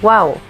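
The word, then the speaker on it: wau: uniquely designed malaysian kite its wings are similar to an arabic letter pronounced wow this kite making tradition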